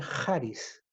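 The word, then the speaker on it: χάρις: ahí usa la palabra haris y en este término griego se lee parís también se puede leer como savvis charisse pero más bien tiene fonéticamente hablando se pronuncia heart is y la palabra heart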